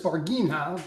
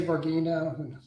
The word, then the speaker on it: Varginha: away well thanks yeah i pronounce this varghino but uh you say virginia i say vargina it's uh you know